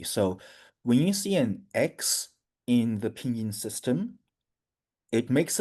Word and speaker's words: Xi: yeah, and so the his surname starts also with an X. So it's pronounced as Xi.